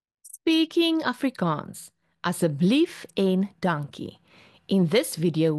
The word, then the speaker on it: asseblief: school a en conceptional riding let's go fir asseblief mens please and dankie mens thank you let sê how to we pronounced as 'n blief asseblief asseblief and thank you is dankie of baie